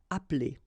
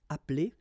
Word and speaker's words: appeler: Okay, same thing here, appeler, but then you get appeler, appeler, and then samedi.